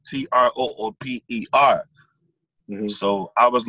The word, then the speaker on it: Troopa: Like, so his name is spelled Trooper. Mm-hmm. So I was like, if I'm gonna say Trooper, my name, I'm gonna put Troopa.